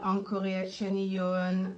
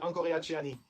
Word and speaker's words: Angkoreacheany: Je m'appelle Encore Chen A n g o r e a c h e a n.